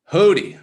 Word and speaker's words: Hootie: Hootie, that's how you pronounce it if you were wondering. It's Hootie. I like to remember with Missy Elliott's Hootie Hoo.